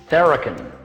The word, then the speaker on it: Tharakan: how do you say your last name correctly theraken so welcome to the show and thanks